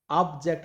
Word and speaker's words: object: Next object, once again object, ऑब्जेक्ट, ऑब्जेक्ट, ऑब्जेक्ट यानी कि जेक्ट में स्ट्रेस दिया जा रहा है, तो आंसर क्या होगा, अब देखिए answer, read the entire contract before signing it.